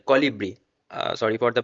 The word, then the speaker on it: Colibri: Now this is the whole process of this Calibri, sorry, Colibri.